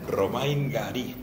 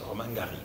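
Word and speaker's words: Romain Gary: Román Garí. Bueno, se lo pronuncio tan en francés, luego jugó muy francés, pero vamos, Romain Garry, eso es, Romain Garry.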